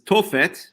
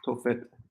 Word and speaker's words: Tophet: Right, but referring to this place, this Tophet, right?